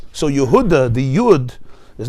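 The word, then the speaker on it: יְהוּדָה: Take Nehemiah, Yehuda is pronounced with a segel. Yehuda. By us in Chumash, in Parshas Vayechi, it's Yehudah. Over there it's Yehuda.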